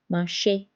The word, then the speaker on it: marché: L'accent aigu is placed on E and it sounds like A like A in English. For example, débutant. Débutant means beginner. Étudiant. Étudiant means a student. École. École is a school. Café. Café. Cafe. Marché. Marché is a market. It's pronounced as A.